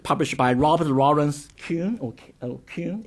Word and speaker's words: Kuhn: Now, the most notable recent example is a book published by Robert Lawrence Kuhn, Kuhn, is that the right pronunciation? Kuhn. Right.